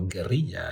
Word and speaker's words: Guerrilla: Fleeting Guerrilla, or Guerrilla actually, that's how you're supposed to pronounce it.